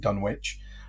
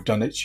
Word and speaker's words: Dunwich: places like Kingsport and dun witch or dunich if you're English depends on how you pronounce it Dunwich sounds better though